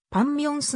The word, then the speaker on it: パク・ミョンス: 家 1993 年デビュー韓国語の発音ではパッチ 6 型の後に微温 m が来ていることによりパンミョンスのようになる 1999 年に歌手